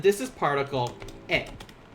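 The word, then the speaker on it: へ: one in purple also and this is particle a this will be pronounced as like just kind of like this a and similar to knee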